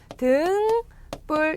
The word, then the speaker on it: 등불: 법칙을 잘 따르고 있는데요 등불은 등뿔 등뿔 로 발음이 됩니다 이렇게 어 뒤에 내용이